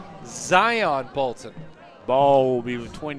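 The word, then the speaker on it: Xion: Exxon or Zion. Zion. Exxon. It's spelled X I O N. Zion Bolton.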